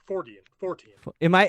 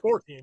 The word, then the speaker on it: Fortean: Fortean. Have I been saying it wrong for years now? It's all good. And you have never corrected me? Fortean, yeah, Fortean.